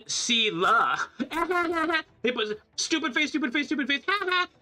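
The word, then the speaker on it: Seele: You just realized that you've been pronouncing Seela, Seeli. No matter. Yeah, it's Seela, it's Seela.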